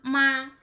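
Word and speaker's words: 妈: The first one with the first tone, its pronunciation is just like this. Mua, ma.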